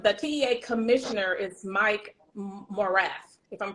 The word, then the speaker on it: Morath: The TEA commissioner is Mike Morath, if I'm pronouncing his name correctly, I Mike believe Morath.